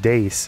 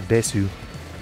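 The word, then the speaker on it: です: I a't no idea it was actually just Dace and not Desu why why did you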